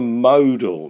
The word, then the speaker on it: modal: 15 what was the modal method of travel now I've I've pronounced it there'd a lot of people say model is not model with modal and we should know that mode is most so modal motor method